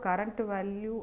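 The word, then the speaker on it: CURRVAL: ID so we have current value and next value so actually we pronounce that current value and next value so but the syntax will be c r v a l Cur well and next Val well so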